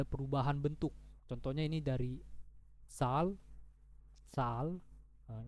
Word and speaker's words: Zahl: Contohnya ini dari sal, sal. Nah, ini bacanya kayak Z itu ganti aja kayak huruf TS. Jadi sal, sal.